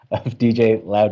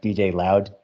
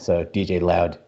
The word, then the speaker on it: DJLaoD: live live okay so we're now live other DJ laude and jy for the lulz and I just found out that it's actually pronounced DJ loud my correct really you're going for some clever